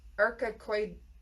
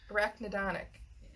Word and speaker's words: arachidonic: That's not how they pronounced it on the web thing. But anyway, we'll go with that. Prostaglandin production and arachidonic. I was practicing. Reduces inflammation. Yeah. Arachid. Arachidonic. Arachnidonic.